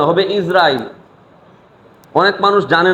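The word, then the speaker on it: عزرائيل: কার নাম নিচ্ছে তো বলি আমরা আজরাইল কিন্তু শুদ্ধ উচ্চারণ হচ্ছে ইসরাইল জের দিয়ে তো ইসরাইল আলাইহিস সালাতু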